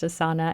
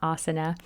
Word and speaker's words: Asana: that I use asana and yes it is pronounced asana and not asana so what I do is once I get